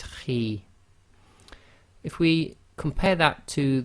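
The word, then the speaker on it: خِ: got a note here, heavy letter but not completely full mouth. So the pronunciation of this is Khi, Khi. So it's not a complete smile, and at the same time it's not a full mouth, i.e. not a complete round mouth.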